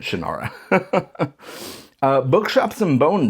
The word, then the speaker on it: Shannara: And I know it can be pronounced Shanara as well. That's how Terry pronounces it. I I don't know. Old habits die hard. I grew up calling it Shannara.